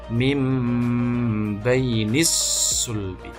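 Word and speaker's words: مِنْ بَيْنِ الصُّلْبِ: minus play ini sulbi membacanya mimbaini sulbi mimbaini sulbi jadi merubah bunyi dan sukun atau tanwin menjadi bumi musuh pun dan disertai dengan dengungan atau ditahan tuh membacanya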